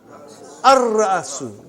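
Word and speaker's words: الرَّأْسُ: How will you pronounce? Ar-Ra'su. Not Al. Ar-Ra'su.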